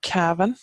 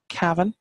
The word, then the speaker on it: Cavan: which means hilly land down here we have Kevin Kevin Kevin as they pronounce us my uncle's from cabin on Kevon